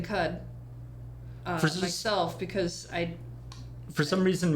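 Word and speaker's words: Qud: It's just cud. It's not quad. It's cud or quud.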